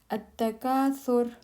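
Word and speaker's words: At-Takathur: At-Takaasur. At-Takaasur. At-Takaasur. Abundance, competition, piling up. At-Takaasur. Abundance, competition, piling up. It's not Takaasur, it's Takaasur. At-Takaasur. Takaasur. Tha is a soft letter.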